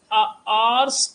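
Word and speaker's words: hour: Pronunciation पर ध्यान दो। आवर, तो निश्चित तौर पर यहाँ पर स्वर से उच्चारण हो रहा है, तो ए नहीं एन लगेगा ए के प्लेस में।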